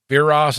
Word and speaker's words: Viras: on in this movie you know beer Ross is how you say it yeah well they fought